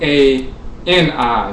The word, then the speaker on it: Ani: There's another version of a medut that has the symbol for the I, and it's spelled A-N-I, so it's Ani, and it means beautiful and so forth, but it also references the I, and the symbol is the I.